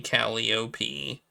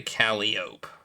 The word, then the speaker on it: calliope: Proud folks stare after me, call me Calliope, tooting joy, tooting hope. I'm the Calliope. So apparently the capitalized version is pronounced Calliope, and the uncapitalized version is Calliope.